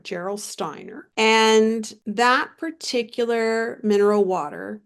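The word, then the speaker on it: Gerolsteiner: is from Europe the name of the brand is spelled g e r o l s t e i n r Geral Steiner and that particular mineral water in of liter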